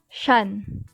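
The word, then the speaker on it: 山: this kanji though in chinese this kanji is pronounced shan as i've explained earlier onyami is derived from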